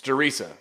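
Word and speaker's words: Der Riese: a remake of theresa which it's theresa look it up the german pronunciation this is a rehash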